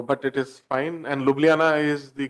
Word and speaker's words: Ljubljana: long winding so but it is fine and Ljubljana is the correct pronunciation so thank you it's a lovely place